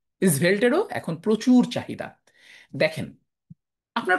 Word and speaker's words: Svelte: ইজ ভেল্ট, এটার উচ্চারণ ইজ ভেল্টেরও এখন প্রচুর চাহিদা।